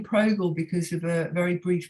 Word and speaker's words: Zoe Progel: As far as I know, that's how you pronounce it, Progel.